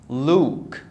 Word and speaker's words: Luke: oh this is Luke the you here is pronounced as Oh so I say Luke so oh very